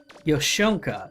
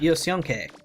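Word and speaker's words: Yosyonke: Yoshonka, so it's not Yoshionke. Got it.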